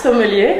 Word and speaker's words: sommelier: a French wine expert, a member of French Sommelier, am I saying it right? Yes, Sommelier Association, right?